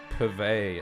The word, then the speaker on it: purvey: Purvey as in supply. Purvey is hard because the emphasis is on the second syllable.